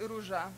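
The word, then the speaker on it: Róża: Yeah, Rosa in Polish should be Ruja.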